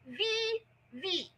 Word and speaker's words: Vevay: and they call it VV, okay? They call it VV. It is actually spelled VEVAY. I'm like, in what world is that VV?